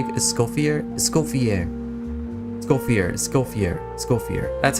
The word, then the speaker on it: Escoffier: Escoffier.